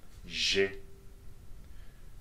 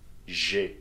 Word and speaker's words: j'ai: The first one, j'ai. You see the elision there? So the sounds are together, right? J'ai.